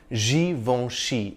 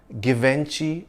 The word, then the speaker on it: Givenchy: It's pronounced Givenchy, not Givenchy or Givenchy. Founded in 1952 by French aristocrat and fashion designer Hubert de Givenchy, the V-E-N in the name is pronounced Von. The N is not really articulated.